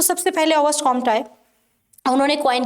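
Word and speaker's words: Auguste Comte: देखिए, सबसे पहले ऑगस्ट कॉम्ट आते हैं, जिनको बहुत से लोग ऑगस्ट कॉम्टे प्रोनाउंस करते हैं। प्रोनाउंसिएशन कभी गलत नहीं होती, जैसे मर्जी कर लीजिए, मैं इसे ऑगस्ट कॉम्ट के नाम से ही जानती हूँ।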